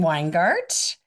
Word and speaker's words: Weingardt: And I am very excited to have, um, Ken Weingart. Is that the right way to say your last name? Yes, ma'am. You got it.